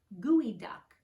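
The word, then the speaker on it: geoduck: to dig deep and you pronounce it like gooey duck and that cool the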